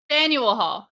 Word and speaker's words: Faneuil Hall: I got this in Boston at Fenwell Hall. Fenwell? Fenwell? Oh Fenwell? my God. Fenwell? Faneuil Hall.